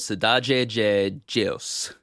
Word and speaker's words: Cidade de Deus: For instance, this movie is titled Cidade de Deus, and did not know that the DE makes a J sound until I went there.